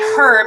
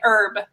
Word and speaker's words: herb: what's funny too is you pronounce you bring you safe herb and we say herb there's no H yes Sandra how about